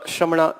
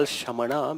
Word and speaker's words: Shramana: Then, so this is what is about the Shramana tradition or Shraman tradition. We do call Shamana, but it is Shraman tradition. This is how you pronounce.